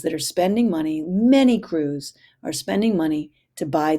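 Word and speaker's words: krewe: They're bought by crews, spelled with a K, K-R-E-W-E.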